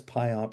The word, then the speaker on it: PyOMP: PI OpenMPP Pyump I guess Pymp is how we often pronounce it.